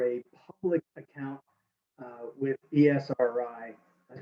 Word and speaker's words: Esri: uh when we teach with esri products yes esri is the way we pronounce it one of the largest software companies